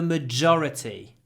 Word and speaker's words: majority: we are in the majority the majority so maor stress on the first syllable majority on the second we're in the majority